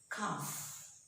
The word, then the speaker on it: calf: For example, calf. We don't say calf, but we say calf.